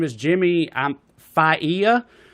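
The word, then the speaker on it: Failla: is Jimmy I'm FIA you hate to call a guy dumbass and then horribly mispronounce his name but it's f a i l l a so I'm gonna go with fa a good pronunciation don't worry about it Fox News radio host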